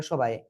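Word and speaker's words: ث: একটা আলিফ টেনে পড়তে হবে, উচ্চারণটা এমনই হবে, বাট কিভাবে পড়তে হবে সেটা দেখেন এবার। জিহ্বার আগা, এই 2 দাঁতের আগায় লাগান, লাগিয়ে উচ্চারণ করেন। সা সা সা সা সা, হালকা বাতাস বের হবে।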